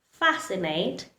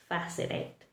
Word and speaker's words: fascinate: He remains silent when it is following the letter S, like in words muscle, seen, fascinate, C is following the letter S, and so it likes to remain silent. Yes, so every time you pronounce these words, remember to keep the letter C silent. Muscle, seen, fascinate. Only pronounce the S, not the C.